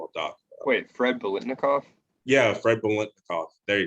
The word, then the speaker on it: Biletnikoff: it too, that's in the hall, is Fred Blink Tornoff. I think I know I pronounced his last name wrong. I'm pretty sure you know who I'm talking about. Wait, Fred Biletnikoff?